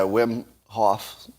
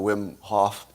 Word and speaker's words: Wim Hof: is it wim hoffman how do you say his first say whim right uh and he's yeah wim hof uh so he's got